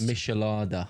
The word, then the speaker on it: Michelada: Remind me of how it's pronounced. Michelada.